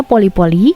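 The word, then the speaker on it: pole pole: Makanya mantra ajaib di sini adalah pole-pole atau dibacanya poli-poli yang artinya adalah pelan-pelan.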